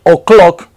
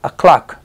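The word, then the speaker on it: o'clock: acá sigue una o esta o ya les dije que de que vaya acentuada se pronuncia como una a Entonces no dicen ooc clock sino a clock a clock Igual acá no más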